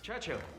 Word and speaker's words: Churchill: Churchill. That's how you say it, all together like that. I'd heard church and hill, but couldn't find either.